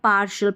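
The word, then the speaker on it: partial: तो देखिए अब यहां पर पार्शियल पार्शियल भी पढ़ देते हैं। इसको पार्शियल ऐसे करके सुनाई देता है। शियल वाला हल्का सा साउंड तो देखिए पार्शियल एसेंशियल पोटेंशियल कॉन्फिडेंशियल ऐसे टी आई एल इसको शल पढ़ेंगे।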